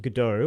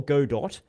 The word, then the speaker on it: Godot: So we're talking about Godot or Godot or whatever you, Godot. however you wish to Gadget pronounce Godot.